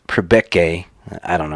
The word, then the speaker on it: Priebke: and public guys eric priebeck sorry it's prebeke i don't know how